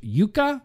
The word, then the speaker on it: Juka: I believe Juka would be pronounced Yuka from Finland.